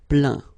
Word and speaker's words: plaint: Okay, and as usual, final T here is not pronounced, so you get craint, contraint, plaint.